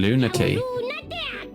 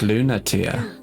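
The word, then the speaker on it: Lunatea: that best prophet in lunacya oh it's pronounced lunatia i like cleno i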